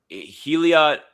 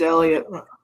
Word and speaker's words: Heliot: Is it is it a Is it a silent H or or no? I I can't tell. What what I I I don't think it's silent, no.